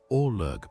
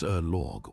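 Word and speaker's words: ørlög: Org pronounced roughly as Erorgg was the foundational layer.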